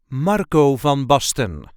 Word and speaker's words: Marco van Basten: the correct pronunciation is Marco Von Boston Marco Von Boston there is a light emphasis on the first part of the first name and the first part of the third name Marco V Boston Marco